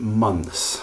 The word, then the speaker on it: months: the word month, month, then you need to learn somehow to pronounce the word months, which is a very difficult word to pronounce for many people cuz you have a three consonant consonant cluster at the end of that word.